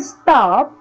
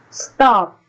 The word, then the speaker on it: stop: the puff of air the word stop is pronounced with no